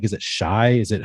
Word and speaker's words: Shi: No, it's Shy Smith.